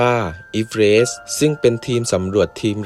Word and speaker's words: Everest: เซอร์ จอร์จ อีฟ เรซ คำ ว่า If Red คน ส่วน มาก อ่าน ออก เสียง เป็น เอเวอร์เรสต์ ขณะ ที่ เซอร์ จอร์จ อ่าน ออก เสียง ชื่อ สกุล ของ ตัว เอง ว่า อีเฟรช ซึ่ง เป็น ทีม สำรวจ